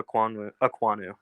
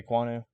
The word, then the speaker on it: Ekwonu: How do you pronounce his name? Ikem Ekwonu. Okay, Ekwonu.